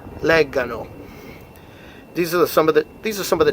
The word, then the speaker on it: leggano: But then, for loro, it's back to the hard G. Che loro leggano.